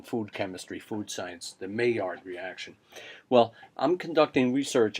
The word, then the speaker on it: Maillard: It's pronounced in English Maillard.